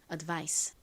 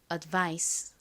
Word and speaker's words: advice: 한 번 더 해볼게요 advice 좋습니다 이어 부분은 대충 발음이 되고요이 I 부분에 강세를 줘서 발음해 주시면 됩니다 한 번 더 해